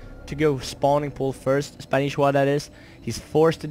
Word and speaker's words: Spanishiwa: Well, I've checked that, and it's actually pronounced Spanishiwa with 2 eyes, it almost sounds like.